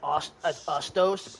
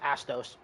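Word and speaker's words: Astos: Also, he may have pronounced that as otos. It's pronounced Atos cuz Jack Jack actually calls him by his real name which is Atos.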